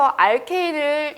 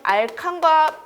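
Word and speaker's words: alkane: 자, 여기서 알케인을 이 영문 발음에 의하면 알칸과 발음이 똑같아요. 발음이 아니라 알칸과 읽는 방식이 똑같습니다. 알칸으로 읽어도 되고 알케인으로 읽어도 됩니다.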